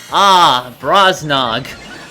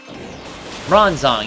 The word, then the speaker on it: Bronzong: Brosnog. That wonderful coin thing that we love so much. You mean Bronzong? Bronzong, yeah, that's how you pronounce it.